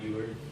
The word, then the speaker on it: Euler: Yes, it is pronounced Project Euler, not Euler. It's like Euler, the mathematician.